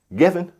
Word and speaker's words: Giffen: that not only this Griffin Records, that's David Griffin, who is also Jewish, and you talking about some negative songs about black people. Giffen, my fault. I pronounced his name wrong.